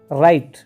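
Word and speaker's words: write: राइट, WRIT, W इसमें silent रहेगा, राइट मैंने क्या है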